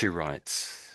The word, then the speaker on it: meteorites: So when you said meet meteorites so meet I think we say meet. I think we say meet e make an e sound. So, meet E and all rights. Meteorites. Meteorites.